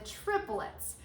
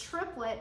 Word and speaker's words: triplet: how we count the triplets all right normally in the english language triplet is like a two-syllable word triplet but in music it's considered a three-syllable word and that's how we